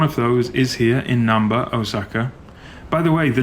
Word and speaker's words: Namba: to me as well, because there's no M sound like that in Japanese. So I don't know why they don't just write it Namba, which is how you say it in Japanese.